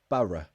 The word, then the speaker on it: Borough: Borough. It's like in up. Borough. Borough. In up and then a schwa. Borough.